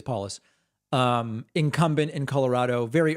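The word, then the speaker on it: Polis: different states uh Jared is it pronounced Jared paulus I don't even know paulus I believe it's paulus um incumbent in Colorado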